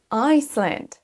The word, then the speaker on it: Iceland: Ne confondez pas island, l'île, avec Iceland. Iceland, qui correspond à l'Islande.